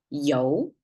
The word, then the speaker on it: 油: You have to pronounce this as a you and a rising tone to make it sound oil in Chinese.